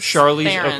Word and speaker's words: Charlize Theron: Charlize Theron.